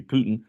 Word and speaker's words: Putin: However, since Russia's constitution only limits consecutive terms, Putin, that should be Putin, Putin won the presidency again in 2012 and 2018.